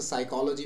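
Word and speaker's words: psychology: बाकी जो चीज है जैसे साइकोलॉजी में पी साइलेंट है तो ये जिस भाषा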